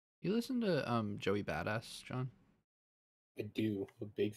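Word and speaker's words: Bada$$: see what else true badass does All American albums good Temptation and Devastator yeah yeah dude big fan of a big fan of the Joey buttocks that's actually how you say it badass yeah gotcha actually but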